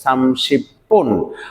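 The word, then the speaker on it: 삼십 분: তার সাথে আবার বুন আসলে আমরা একত্রে এটার উচ্চারণ করব সামসিপ্পুন অতএব ইয়লসি সামসিপ্পুন তার সাথে এ আমাদের একটা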